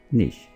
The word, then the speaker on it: niche: सो ये है निश, यानी डोमेन, फील्ड, एरिया। तो इसको आपने निश प्रोनाउंस करना है, ना कि नीचे और नीचे, राइट। सो निश is the correct pronunciation. So preposition bow, bow and niche.